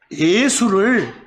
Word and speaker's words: 예수: 그 한자를 우리 한국식으로 읽으면 야소라고 읽습니다. 그러나 중국 사람들 발음으로 읽으면 예수입니다. 한자를 그렇게 써놓고 한국 사람은 어떻게 읽고요? 야소라고 읽고 중국 사람들은 뭐라고요? 예수라고 읽어요. 예수 이렇게. 보이세요? 바로 그 음을 따서 한국 사람들은 뭐라고? 예수 이렇게 말하는 겁니다. 아시겠죠?